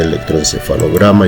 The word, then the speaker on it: electroencefalograma: Y en el caso de electroencefalograma y esternocleidomastoideo, la sílaba tónica es la penúltima y son palabras graves.